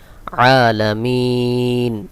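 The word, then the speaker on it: العالمين: উপরে জবর রয়েছে এটাকেও সাকিন করে দিতে হবে আলামিন মিম ইয়াজের মি এখানে তিন আলিফ টান হবে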